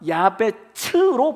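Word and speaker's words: יעבץ: 히브리어의 야베스가 야베츠로 발음이 돼요.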